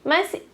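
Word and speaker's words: 马: A pronúncia do cavalo é ma, assim, tá? O ma. Já vou mostrar a pronúncia para vocês já sabem que o ideograma cavalo se fala ma, tá?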